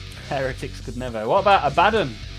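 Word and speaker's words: Abaddon: What about Abaden? I get that a lot of people call him Abadon, but I'm an Abaden kind of guy.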